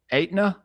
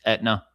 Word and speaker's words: Etna: Well, let's go ahead and get So, uh, Etna. Is that how you say it? It's Etna the the insurance. Well, Etna, it is like Etna the insurance. In fact, that's one of the reasons why they called it Etna the insurance.